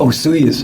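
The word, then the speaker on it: Osoyoos: And I watched the other episode too way out in uh British Columbia um with the I can't pronounce the town. Um, osuyas. Osuyuas.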